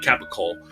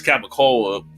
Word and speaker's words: capicola: well at least there they call it capricorn but it's capicola how you spell it and you couldn't get